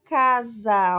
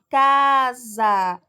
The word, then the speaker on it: casa: pronunciamos com maior intensidade na palavra casa aqui ó o caio é a sílaba tônica por quê porque ele é pronunciado com maior intensidade casa o cássio destaca mais